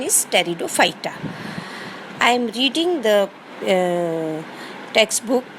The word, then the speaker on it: Pteridophyta: P is silent. Pronunciation is Pteridophyta.